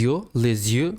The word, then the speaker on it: yeux: les yeux, Les yeux. What? Les yeux. les yeux. Les It yeux. starts with Y, E-U-X. You pronounce just like a closed E.